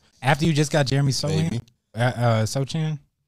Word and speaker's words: Sochan: After you just got Jeremy Sochan, it's possible. I don't know. You said it right the first time, Sohan.